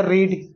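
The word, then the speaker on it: read: लेकिन पढ़ते भले रेड और रेड हैं लेकिन स्पेलिंग बिल्कुल सेम होता है।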